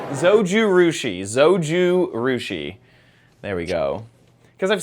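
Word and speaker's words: Zojirushi: Zoji Rushi. Zouju Rushi. Zoju Rushi.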